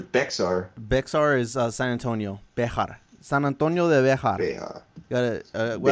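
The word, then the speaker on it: Béxar: Yeah, in Spanish it's like Mexico, like Bejar.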